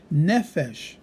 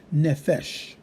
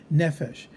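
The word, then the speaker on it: נפש: It shows you the accent over the noon, indicating that the stress is going to be on the first syllable and not the last syllable. Without such a mark, we always put the emphasis or the stress on the last syllable. When we see that, it puts it on the first, we would say nefesh, not nefesh.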